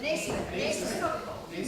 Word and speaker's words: Naismith: Naismith. Not pronounced the way it looks.